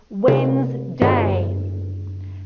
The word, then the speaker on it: Wednesday: when you say it it goes wednesday can you see i've broken it into three syllables there it has two wednesday when you say it but when you spell